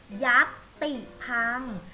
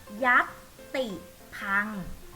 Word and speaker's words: ยัติภังค์: ทาง การ ว่า ยัติภังค์ ยักษ์ ติ พัง เด็ก ๆ ออก เสียง ตาม แม่ ครู ค่ะ ยักษ์ ติด พัง เด็ก เรียก ทั่ว ไป